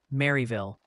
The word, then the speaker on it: Maryville: They're gently reminding you it's pronounced Maryville. Really hit that Mary in Tennessee.